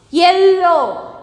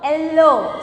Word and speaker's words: yellow: But here see, LL is pronounced as single pronunciation.